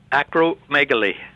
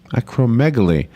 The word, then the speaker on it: acromegaly: phone with us about the word i can't pronounce acromegaly how do you say it acromegaly acromegaly now explain what this is it's a non-cancerous